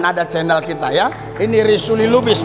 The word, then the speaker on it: Risuli Lubis: Ini Risuli Lubis bacanya.